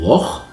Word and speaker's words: loch: So for example, the one that you probably have already heard of is the ch sound, like in loch, like the Loch Ness monster, loch.